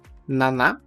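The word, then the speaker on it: なな: primeira e mais comum Naná Nana com o cuidado que a pronúncia não é n que nós falantes da língua portuguesa acabamos pronunciando mas Naná Naná já é o próprio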